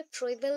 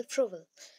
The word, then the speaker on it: Froebel: फ्रोबेल कहीं कहीं पे फ्रोएबल भी मेंशन्ड है. ओके सो उनके टर्म्स उस टाइम में थे फ्रोएबल, बट अभी के टाइम पे हम लोग प्रोनाउंस करते हैं एज अ फ्रोबेल.